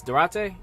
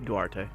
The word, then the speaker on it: Duarte: Durante, is that how you say his name? Duarte.